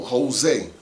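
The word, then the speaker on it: José: No different than how you could say today, you know, Jose is spelled with, not with a H, but with a J. The J has an H sound.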